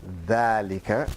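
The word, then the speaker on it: ذلك: He said, dhalika is pronounced dhalika, but it's written without the alif.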